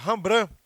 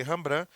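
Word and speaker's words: Rembrandt: que eu tô falando a rambrã a pronúncia é essa se escreve reimbrante de ti mas se ele rambran ele trabalhou com essa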